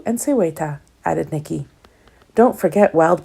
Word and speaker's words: Seweta: "And they are pronounced Hakwu and Seweta," added Nikki.